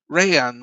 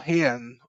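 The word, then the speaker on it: Rayan: Ryan or Hian um you know I I still can't say it properly. The Rs are pronounced as H's aren't they in Brazil.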